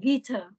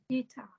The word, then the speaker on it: guitar: about this one ah guitar guitar a second stress guitar guitar yeah guar guitar guitar it's like a Miss pronunciation guar yeah please remember Miss second stress okay guitar no still First